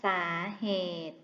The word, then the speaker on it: สาเหตุ: กัน บ้าง นะ คะ คำ บาง คำ มี สระ อิ หรือ สระ อุ ที่ ใช้ กำกับ พยัญชนะ ตัว สะกด ซึ่ง ไม่ ออก เสียง เช่น สาเหตุ อ่าน ว่า สาเหตุ ธาตุ อ่าน ว่า ธาต